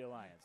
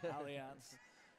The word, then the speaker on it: Allianz: Should be Alliance, not just kidding. Allianz. Well, it's a German company.